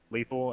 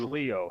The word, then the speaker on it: Leo: I believe that's how you pronounce his name, is like Lethal. I guess we can just call him that. Yeah, and we're gonna hop into. But it's Leo. Sorry, it's not Lethal. Leo, but it's yeah.